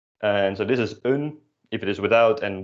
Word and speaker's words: een: The indefinite article, un. So repeat that for me, un. You might notice that this is spelled the same way as the number 1, which is pronounced as één, and they are pronounced differently.